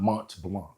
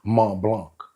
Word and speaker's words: Mont Blanc: to say it it's it's not Mont Blanc it's m Blanc all right and then